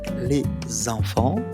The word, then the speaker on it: les enfants: On doit prononcer un Z après les donc les enfants.